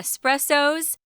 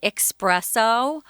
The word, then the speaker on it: espresso: day but uh yeah espressos which i have to mention here a lot of americans at least mispronounce this word they say expresso like there's an x in it like express meaning fast no this is an